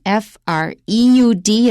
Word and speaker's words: Freud: childhood and sexuality so freud was his name and the adjective is freudian f-r-e-u-d it's german that's why i pronounce it freud i-a-n at the end